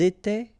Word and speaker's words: étaient: étions, vous étiez, ils étaient, elles étaient. Alright, so exactly the same rule. Remember, final S, here, here, final T, and then here, E-N-T. You don't pronounce them.